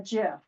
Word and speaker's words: GIF: Kind of makes a a GIF or a GIF, whatever, however you pronounce that. I think there's two pronunciations.